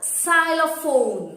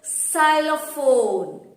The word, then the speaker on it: xylophone: But when I pronounce xylophone, I use the sound X, X.